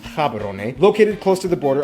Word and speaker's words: Gaborone: If you speak Setswana, it's pronounced Gaborone, located close to the border of South Africa, and the country is divided into 9 districts.